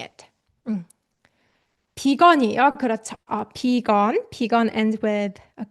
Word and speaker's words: 비건: And just so you know, guys, vegan is just 비건. We say 비건, the Korean pronunciation of vegan.